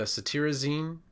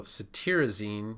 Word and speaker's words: cetirizine: The cetirizine, it's spelled T-I-R, but you pronounce it T-E-A-R. So cetirizine, you can think of the tearing from allergy eyes as a way to remember this one.